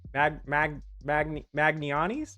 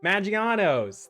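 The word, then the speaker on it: Maggiano's: Not, not magnanis. Maganis. Juan, can you help me? You're in Chicago. It's an Italian restaurant that started in Chicago. It's pronounced very Italian. Ma Magi Magi Maganos. Maganos.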